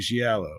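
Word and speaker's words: giallo: what makes a movie gello so in Italian Cinema gello pronounce yellow plural Italian for yellow we've all discussed this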